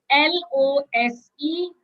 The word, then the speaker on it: lose: losing yes loose okay so you have loose and lose right so let's look at l o s e that is pronounced as lose which means the past